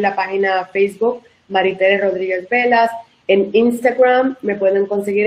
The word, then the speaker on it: Bellas: Velas. Y Perfecto. Velas es como si quisieras decir bellas en español, pero se pronuncia con una L porque mis esposos griegos.